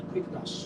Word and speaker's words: Quickedash: Play Store, type in quick dash. It's spelled Q U I C K E D A S H. Quick dash.